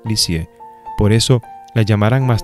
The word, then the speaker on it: Lisieux: vivir a un pueblo llamado leaks ya que se pronuncia lisieux por eso la llamarán